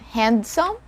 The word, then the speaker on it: handsome: help you a lot the first word is handsome handsome so it's not handsome we don't pronounce or we don't sound the letter d here handsome we stayed in